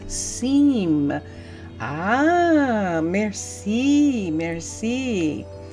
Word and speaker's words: Cimes: Agita and Plum also do Minecraft and Minecolonies, and it's pronounced Cimes.